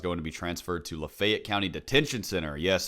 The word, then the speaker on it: Lafayette: Yes, for some reason my town pronounces it Lafayette. In that county, I'm aware of the fact that the rest of the world pronounces it Lafayette, but it's colloquially referred to as Lafayette where I live.